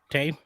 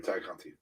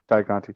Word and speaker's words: Tay Conti: Sorry, Ty Conti. Ty Conti. Ty. Sorry, said it wrong. I have such a hard time calling her Ty, if only because I know that's how it's pronounced.